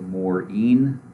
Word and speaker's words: Morean: questions i am maureen yes i pronounce it morin i use he him